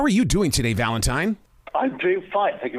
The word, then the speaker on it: Valentine: You said Valentine, which is right. Some people say Valentine, which is wrong.